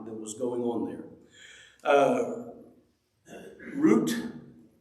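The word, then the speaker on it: רות: Root is, I think, how it's pronounced in Hebrew, and that's what it looks like.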